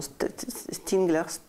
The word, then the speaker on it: Stiegler: dis à la Russe, Bernard, comment tu le prononces son nom? Stigler. Bernard Stiegler.